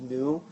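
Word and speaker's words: ν: V is actually uh a symbol pronounced new so that's why you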